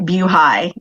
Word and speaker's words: BuHi: to uh applaud you for pronouncing it view high it is for beaufort highway um and we started as an instagram account actually in 2015.